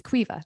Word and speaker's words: Quiva: Yeah, my name is Quiva. That's how you say it.